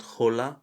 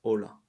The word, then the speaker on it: hola: not hombre but ombre just like in hola it's not holla but it's hola yes so yes si